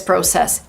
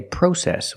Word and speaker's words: process: In America, we don't say process. We say process. Use the short a sound like hot and stop. The open sound a pro. Process.